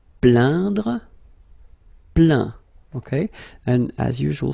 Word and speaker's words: plaint: Plaindre, plaint. Okay, and as usual, final T here is not pronounced, so you get craint, contraint, plaint.